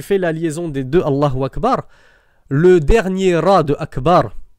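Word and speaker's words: الله أكبر: Donc normalement tu dois dire Allahu Akbar, Allahu Akbar. Donc faites attention mes frères qui faites aussi l'adhan, c'est Allahu Akbar, Allahu Akbar et non pas Allahu Akbar, Allahu Akbar. Sinon vous vous arrêtez. Allahu Akbar, Allahu Akbar. Mais Allahu Akbar, c'est une faute, entre guillemets, grammaticale.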